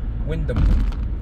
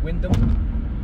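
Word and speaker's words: Wyndham: called the Windam Gardens Windam I don't think you pronounced the H right Windam not Windam let us know your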